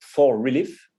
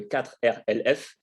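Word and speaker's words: 4Relief: Il y a le fameux 4 Relief. Alors, si on le prononce à la française, c'est le 4RLF, c'est moins joli.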